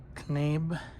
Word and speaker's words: Knabe: So I have taken the things that I wanted from the William Knabe. I have to think that K is silent.